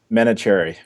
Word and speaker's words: Menachery: is a postdoctoral fellow in Ralph's lab, Menachery. Welcome. Did I pronounce it terribly? I've heard much worse. Menachery or Menachery? Is it Menachery, right? Menachery. Thank you. I completely understand mispronounced names, as you might imagine.